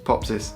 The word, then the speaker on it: Popsys: No one can pronounce my name either. Popsis. It's Popsis.